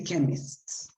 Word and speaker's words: chemists: show here chemist chemist you must pronounce the s chemists because if you don't pronounce it we are referring just to the person working there so it's like you can see the chemists okay good let's see